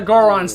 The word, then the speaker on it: Goron: Why did none of the Gorons think of that? I think this is yet more proof of the fact that, well, why Goron rhymes with moron.